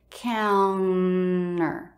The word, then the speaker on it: counter: It is not kitchen counter, But for Americans, you'll almost always hear that with no T. Counter, counter, kitchen counter.